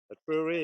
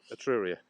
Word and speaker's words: Etruria: You can pronounce that place we're at. That's where we are. Etruria, yeah, correct, yeah, Etruria, yeah.